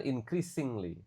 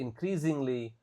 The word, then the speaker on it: increasingly: Jadi di sini s-nya dibaca kayak Z. Oke. Increasingly. Bukan increasingly tapi increasingly popular.